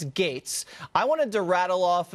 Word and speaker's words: Gaetz: is kind of ridiculous it's GA etz it's pronounced gates but no one knows how to say that I'll tell them it's gates I wanted to rattle